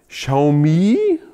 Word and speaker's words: Xiaomi: Xiaomi, ich glaube, so spricht man es richtig aus, bei Xiaomi, sogar Autos bauen, ja?